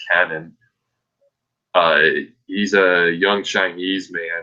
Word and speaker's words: Kenan: Yes, they're not pronouncing it Keenan. It's Kenan.